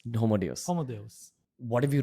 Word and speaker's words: Homo Deus: What's the correct pronunciation? Homo Deus. Homo Deus.